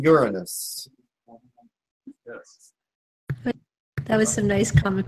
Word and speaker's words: Uranus: And it's, yes, I'm being told that it's pronounced Uranus. That made me laugh. Psychically, I was told it's spoken Uranus.